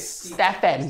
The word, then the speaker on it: Stephen: they pronounce their names so for example when i was growing up s-t-e-p-h-e-n when you're filipino it's no in cebu it's stefan right it's stefans but when you go out